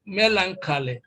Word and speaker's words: melancholy: you adopt that then when you learn a word like melancholy then of course you know that stress is placed on the first syllable and so it is